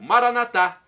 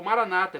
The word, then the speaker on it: Maranata: e agora eu clamo maranat como dizemos nós católicos ou Maranata como dizem nossos irmãos separados os evangelos angélicos ou protestantes não importa a pronúncia o significado é o